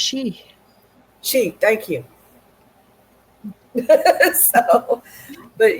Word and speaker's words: Sidhe: So it's pronounced she.